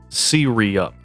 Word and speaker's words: Syreyup: But to make it known, if you want to say my name technically correctly, it's Siri. SiriUP. If you use iOS and activate Siri, you said it right.